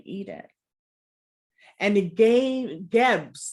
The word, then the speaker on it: Geb: a candle for healing we can say geb of course i always say it three times or keb or seb but the pronunciation is geb you can also carve